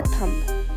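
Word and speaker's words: thumb: अब देखो, second word है हमारा थंब। थंब को बहुत ज़्यादा लोग मिसप्रोनाउंस करते हैं। थंब को थंब नहीं बोलते, थंब बोलते हैं, क्योंकि बी साइलेंट होता है।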